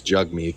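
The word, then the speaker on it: Jagmeet: I keep forgetting it's Jugme. Jug me. Yeah. It's it's it's it's hard because it is spelled with an A, but it's just naturally it just comes out as Yeah.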